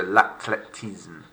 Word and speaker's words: l'athlétisme: That the th sound in English isn't there. Look, de l'athlétisme, silent H.